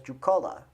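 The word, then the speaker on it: Judaculla: You've got Judicola Rock. Well, as the Cherokee pronounce it, as Jucola.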